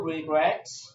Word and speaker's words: regret: To regret. To regret. To regret. Regret. To regret has two syllables, re and gret. The stress is on the second syllable.